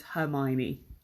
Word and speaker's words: Hermione: But her name is Hermione. So let's describe Hermione Granger.